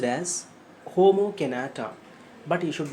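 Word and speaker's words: Jomo Kenyatta: written by homo kinata j-o-m-o it should be pronounced as homo canada but you should not pronounce it as jomo kanata okay let us move on so what are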